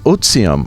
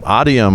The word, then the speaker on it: Otivm: i've been calling them audium or odium but it's oxime right is the latin pronunciation so the ti is a z so option is the